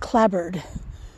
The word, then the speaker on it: clapboard: has wood siding uh spelt clapboard pronounced clabbered anyway um so this